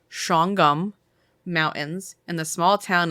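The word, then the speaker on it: Shawangunk: is nestled in the foothills of the now it's spelled Shang Gunk and we called your mom to confirm and I put it in parentheses it's pronounced shongum mountains in the small town of napon Napo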